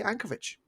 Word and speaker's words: Yankovic: I think we say Ankovic because that VIC sound in Europe is always that CH sound.